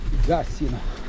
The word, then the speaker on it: Gassino: La pronuncia del paese cade su I. Gassino e non Gassino, come dicevo prima.